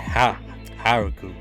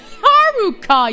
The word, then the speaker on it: Haruka: I think you meant Haruka yeah I meant haruku not yeah Haruka you silly W Haruka yeah there you go